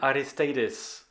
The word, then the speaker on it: Aristeidis: good afternoon aristadis and i know i pronounced your name correctly because you told me that i sounded almost greek hello sebastian yes you